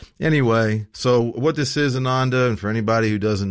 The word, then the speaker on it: Ananda: my author name is Ananda, and you give it great honor by pronouncing it Ananda because it means bliss and joy. And when I go south, they say Ananda.